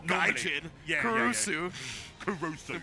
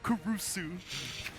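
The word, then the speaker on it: Caruso: can say it like that like a real kusu kusu but that's not how you're supposed to say it all the use kuru kurusu Alex Kurusu for the Oklahoma City Thunder but namari kurusu something like that for calamari but you couldn't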